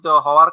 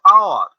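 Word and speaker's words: hour: তখন অ এর মতো উচ্চারণ হওয়ার কারণে অনেস্ট ম্যানের পূর্বে এন বসেছে। যেমন আমরা বলি আওয়ার, হাওয়ার ন, আওয়ার, এই জন্য এইচ এর উচ্চারণ যেহেতু অ এর মতো হয়েছে, সেজন্য আওয়ারের পূর্বে এ না বসিয়া এন বসেছে।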